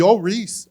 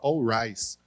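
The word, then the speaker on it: Al Ries: pronunciar o nome dele no Brasil a gente tem a mania de falar All Rise ele fica puto quando fala All rights ele fala meu nome não é arroz não é All Rice né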